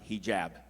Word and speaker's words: hijab: Adriana, your word is hijab. It could also be pronounced hijab.